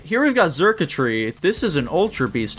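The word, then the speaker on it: Xurkitree: Yeah, it's like circuitry.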